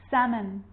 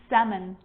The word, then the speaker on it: salmon: this makes it easier in these words where l is really difficult to pronounce then it's silent ready let's try it could could should should talk walk yolk half calf salmon not salmon salmon so we got through